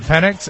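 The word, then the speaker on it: Pennix: Penix, and every day Mr.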